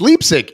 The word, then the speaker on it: Leipzig: So it's Leipzig. I'm saying it correctly. No, it's Leipzig. E is second.